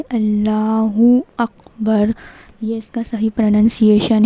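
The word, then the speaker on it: الله أكبر: तो यह सही प्रोनाउंसिएशन है। अल्लाहहु अकबर ऐसे बोलना है। साफ सुथरा बोलना है। और इसका सही प्रोनंसिएशन क्या है? अल्लाहहु अकबर।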